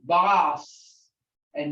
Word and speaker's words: bossa: And you don't hear Basa. this. There you go, bossa. And remember, Basa. you got two consonants, double like this. You got to pronounce both of them.